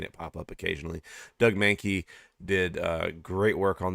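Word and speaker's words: Mahnke: Doug Mankey did uh great work on this series. Um, oh, I pronounce it monkey.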